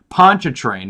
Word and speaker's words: Pontchartrain: Pontchartrain is how it's pronounced.